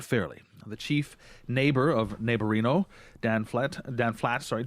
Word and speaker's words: Naborino: I got the pronunciation of that right it's pronounced neighborino absolutely you got it where did you get